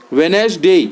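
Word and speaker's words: Wednesday: डी silent रहता है वेनेस डे हम आ गए तो यहां डी साइलेंट है तो हम डी लिख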